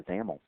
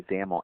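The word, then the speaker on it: XAML: is determined by the zaml um by the way zaml X m l is the is the acronym there and that's pronounced with a you know rhyming with camel so let's go ahead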